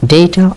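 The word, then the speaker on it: data: দিয়ে ছাট দেয়া হয় ডেটা অর ডাটা দুটো উচ্চারণে ঠিক আছে এই অর্থ কি ডেটা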